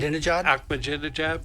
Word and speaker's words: Ahmadinejad: Did I pronounce that right? Ahmadinejad, yes.